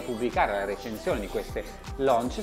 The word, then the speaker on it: Launch: Andrea, ma da queste Brooks Launch si pronuncia proprio così, anche se da quanto ho capito il dottor Soffientini preferisce farla all'italiana.